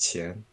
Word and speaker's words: Qian: Uh, it's uh pronounced Chin.